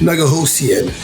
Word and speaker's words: Nigohosian: fantastic guests we've got New Jersey native Naga Lucien now did I pronounce that okay you most certainly did excellent